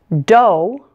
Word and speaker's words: dough: have oh ugh Spelling's four of these words pronounced oh ugh Oh like the sound in the words show or low say them with me though although doe and burro if you